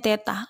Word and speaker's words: theta: Ini sangat penting ya, untuk mencari cos theta, itu bacanya theta.